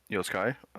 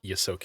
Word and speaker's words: Yosoki: Pockets is a 3'1" Yosukai. He is very to interject. It's pronounced Yosoki.